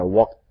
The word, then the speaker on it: walked: Tolong dilihat lagi bagaimana walk dibaca walked, tajam. Tetapi kalau kill, killed, tumpul. Oke.